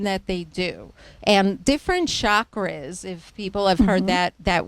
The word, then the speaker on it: chakra: And different chakras, if people have heard that word, it's called like shock, like a shock. Right, You get right. a shock, chakra, but it's spelled Chakra.